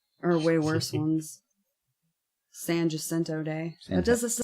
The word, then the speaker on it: Jacinto: It's will be like, not "Oh, they're in Jacinto. Austin." It's pronounced Jason.